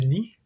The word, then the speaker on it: ni: Car la prononciation du ni est comme le N français dans anana.